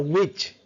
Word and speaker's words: witch: And T word is silent. It's a rich. So it's a witch.